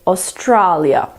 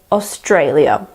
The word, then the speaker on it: Australia: so they will say Australia but you have to remember that the second a is just like the a in day so we say Australia the fourth word is